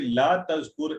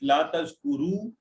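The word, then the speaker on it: لا تذكر: Now, brothers and sisters, please remember when we say La tazkur, it is La tazkur with the silence there. Because if you will pronounce it La tazkuru, the meaning would change. La tazkuru is the meaning for plural.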